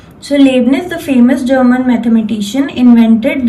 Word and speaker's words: Leibniz: Okay, you have to pronounce it like this. आपको इस word को pronounce करना है children, Leibniz. Okay, I have partitioned it. You can learn it easily. Okay, and you can pronounce it in this way.